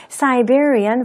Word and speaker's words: Siberia: Siberian volcanic eruptions. 이것 때문입니다. 라고 말을 했는데요. 우리가 흔히 시베리아라고 하는 지역은 영어에서 발음을 할 때는 Siberia가 되고요.